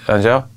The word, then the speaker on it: Angèle: yeah D Punk's so brilliant and I like aneli has how you say it howel Angel yeah like she's Belgian Belgian yeah but everyone